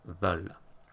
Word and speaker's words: veulent: Nous and vous are pronounced voulons, voulez, because they're spelled with an OU, but then with il, elle, we go back to that thematic EU, and we say il, elles veulent.